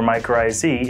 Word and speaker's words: mycorrhizae: tried to pronounce it well technically it's called my coryza and the singular or my crazy in the plural and it describes a